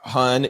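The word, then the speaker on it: Huynh: Gina Hun, it's spelled uh H U Y NH.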